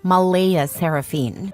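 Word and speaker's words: Mleigha Seraphyne: Clare insists it's pronounced Malaya Saraphene, but she's adamant about keeping the creative spelling because normal names are boring and my daughter deserves to stand out.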